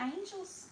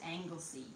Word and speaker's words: Anglesey: That's That's why You said angels angels. What do you You say angels angels. It's Anglesey. How do you How do you say it? Someone Someone Anglesey. I don't know. I'm telling you it's Anglesey.